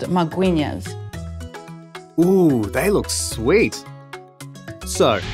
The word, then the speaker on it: magwinya: How to pronounce it in a proper way? Magwinya. Magwinya.